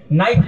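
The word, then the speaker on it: knife: silent नहीं दिखता है इंग्लिश में नाइफ लिखते हैं के साइलेंट रहता है बोले उसे किराम के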